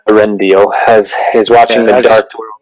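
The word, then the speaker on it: Eärendil: the master palen arendal I'll correct the spelling of that here for you it's spelled e a r e n d i l arendal has is watching the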